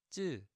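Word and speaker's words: ㅉ: The 쌍지읒, 쯔. You're adding a little more stress into it, 쯔.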